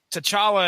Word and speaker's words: T'Challa: pronounce his name alright the answer is we're going with the chawla mark says Comic Vine says to chala I'm not gonna argue that T'Challa it is Ronnie Adams there's your